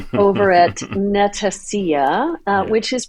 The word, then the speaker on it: Netacea: as Andy 2 over at Netacia uh which is pronounced Netacia like Panacea.